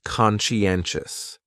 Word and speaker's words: conscientious: So, conscientious has 4 syllables, and the stress is on that third syllable. N. Conscientious, conscientious. That second syllable is what really confuses people, because that sigh almost sounds like you're saying she. Conscientious, conscientious.